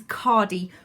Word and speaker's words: Khadi: The brand I use is Cori, which is spelt Khadi.